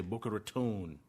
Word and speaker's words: Boca Raton: a reit out of boca raton or as the locals say boca raton they invest in private